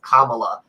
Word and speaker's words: Kamala: the way like page one she's like it's pronounced kamala like the pronunciation kamala so kamala harris is